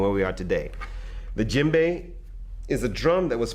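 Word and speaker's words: djembe: a lot about is called the jimbe now the jimbe is spelled DJ e MB e this drum is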